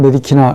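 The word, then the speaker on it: medicina: 자, 의학은 메디키나, 의학의 메디키네, 의학에게 메디키네, 의학을 메디키남. 그렇죠. 의학으로 인해서 메디키나가 됩니다. 영어로 C 발음하고 싶은데 그건 현대 언어고 고대 발음은 모두 크로 발음해야 됩니다. Q하고 K하고 똑같아요.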